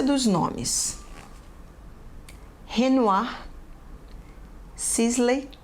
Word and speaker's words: Renoir: Pronúncia dos nomes: Renoir, Sisley, Cézanne, Monet, Klimt, Degas, Seurat, Gauguin, Toulouse-Lautrec, Munch, Vincent van Gogh.